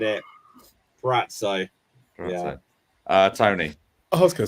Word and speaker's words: Purrazzo: Purrazzo.